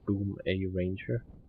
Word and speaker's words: Boomeranger: of the boomer ranger now it says boomeranger but actually in the official pattern of the said it pronounced like boom a ranger there and let's start this